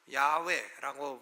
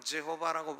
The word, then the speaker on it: 여호와: 여호와라는 이름은 정확한 발음을 잘 알 수 없는 하나님의 이름입니다. 그래서 어떤 사람은 야훼라고 부르고 어떤 사람은 여호와라고 부르고 영어로는 제호바라고 부르고 하는데, 대부분 히브리 학자들은 야훼가 아마도 정확한 발음일 것이다, 이렇게 생각을 합니다.